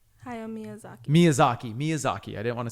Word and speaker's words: Miyazaki: about your beloved sto gibli and let me pronounce this correctly hayo mizaki ha Miyazaki Miyazaki Miyazaki I didn't want to say that